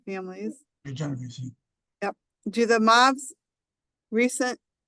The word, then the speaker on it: Genovese: Genovese.